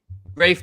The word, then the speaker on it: Rafe: pumped uh rafe said you can pronounce my name as uh rafe just like reindeer yeah cool right okay